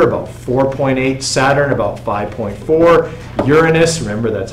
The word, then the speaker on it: Uranus: eight percent Jupiter about 4.8 Saturn about 5.4 Uranus remember that's how you pronounce it okay it's 4.7 percent Neptune almost